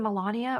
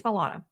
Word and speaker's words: Milana: saying yeah M although now whenever I say her name I'm like is it Melania or is it meana it's Milana anyway she's wonderful really funny